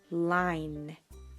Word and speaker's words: line: 예를 들면 이 단어의 경우 L, E, N 해서 lean 이라고 읽지만 이 뒤에 묵음 E가 오게 되면 I를 알파벳 소리로 발음을 해서 L, I, N 묵음 해서 이것은 line 이라고 발음해 주시면 되겠습니다.